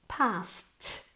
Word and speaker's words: passed: Are you sure you passed passed? Como si fuera una T.